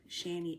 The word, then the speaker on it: Chani: sent to me through the app, Shani app. It's spelled Chani.